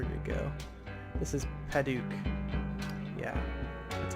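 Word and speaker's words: Padauk: This is Paduk.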